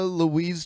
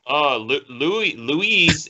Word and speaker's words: Louis: okay, the female on Seinfeld, how do you pronounce her name? Elaine. No, I mean the actress. Julia Louise Dreyfus.